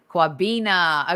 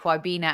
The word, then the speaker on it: Kwabena: uh Qui bana hi Qui bana am I pronouncing your name correctly firstly cuabina okay kwabena and what part of